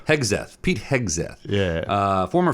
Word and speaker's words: Hegseth: And then I saw that um that Pete uh how do you pronounce that guy's last name? Oh uh Hegath. Hegseth.